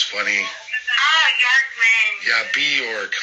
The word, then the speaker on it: Bjorkman: It's Bjorkman, like New York. Think of it, Bjork. It's Norwegian, Swedish. Bjorkman. Bjorkman. Bjork. Is that how you pronounce it? No, the J's like a Y.